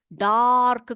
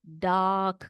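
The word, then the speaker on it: dark: देखो बेटा यहां पर यह जो है ना आर उसको हम लोग डार्क करके नहीं पढ़ते उसको डाक करके पढ़ते हैं कैसे पढ़ते हैं डाक ठीक है तो अभी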